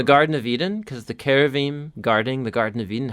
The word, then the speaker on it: cherubim: into it, you're going to run into a cherubim. How do you pronounce it?